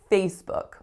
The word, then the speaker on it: Facebook: next up we have facebook facebook two syllables the strongest syllable is the first and that's not usually the part that people have difficulty with it's that lack foul in book book so really really often